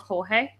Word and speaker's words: Jorge: His name's Jorge. Hurley, yep. And my sister's like mentioned something about George playing Hurley. I'm like, the fuck's George? And she's like, it's spelled George. I'm like, it's Jorge.